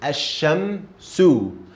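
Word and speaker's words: الشمس: So we got al here, but there is no sukoon above lam. And instead, we got shadda on sheen. So how do we say this beginning? Asha. Ash. Did you hear it? I didn't pronounce lam here. Asha. Asha. And then we got mim sukoon. Asham. Asham. Mim sukoon. This is how we say mim sukoon. And then sin dhamma, su. So asham su.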